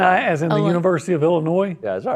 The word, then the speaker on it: Illinois: It's Illinois. They don't. Yeah, the S is silent.